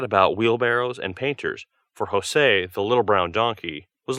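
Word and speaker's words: José: poor fellow but jose that is a spanish name by the way it is pronounced jose had no idea of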